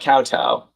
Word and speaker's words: kowtow: Nama says the TOW in kowtow is pronounced like cow. That's what I thought, kowtow.